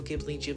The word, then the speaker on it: Ghibli: of leaning into like sci-fi, fantasy, whimsical, Studio Ghibli, whatever.